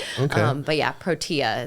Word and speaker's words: Protea: But yes, we pronounce it Protea. But yeah, it does look like, I've had a few people mistake it as like it being a tea shop where it looks like pro tea.